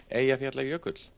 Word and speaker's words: Eyjafjallajökull: It's pronounced similar to, yo, I forgot the la yogurt. The la yogurt part's kind of close.